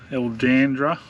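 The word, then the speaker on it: Erldunda: we couldn't stop long enough so red um el dandra that's how you pronounce it up in the uh northern territory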